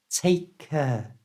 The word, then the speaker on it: take care: to say it naturally, we don't pronounce the first k, the one at the end of take.